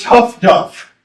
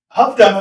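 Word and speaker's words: Huff-Duff: This is pronounced tough duff by the Brits. High frequency direction finding. Who's seen Greyhound with Tom Hanks? Who sees everything Tom Hanks does? Yeah. Okay. All right. Huff duff is what they keep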